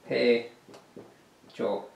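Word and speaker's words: 폐조: In Korean, it is Paejo. Paejo. Pronounced Paejo.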